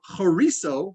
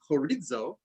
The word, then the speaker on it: chorizo: So chorizo, which we would pronounce as chorizo, right? Chorizo sausage, or chorizo sausage, right?